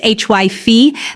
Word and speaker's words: hyphae: Mold grows as a network of microscopic filaments called hyphae, pronounced HYPHE, that penetrate into any porous surface they can access.